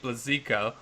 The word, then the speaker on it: Blazejko: Alright, I'm Vlad, this is Lexi, and we are here with Dave Blazejko. He's smiling because I said his name wrong.